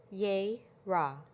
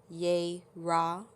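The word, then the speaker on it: Jera: by the following runes let me make sure I'm saying it correctly as well yay Raw we're using the yay raw room if you're interested in learning about the yay Raw roon it is spelled j e r a and that again is j e r a we are also blessed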